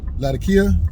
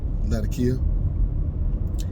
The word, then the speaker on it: Latakia: virginia ribbons and uh latakia or some people pronounce it the cate i think i've always called it uh latakia and it also has